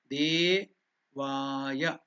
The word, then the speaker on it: Devaya: Devaya. De and Va are the Dirgha. We are uttering it with two matras.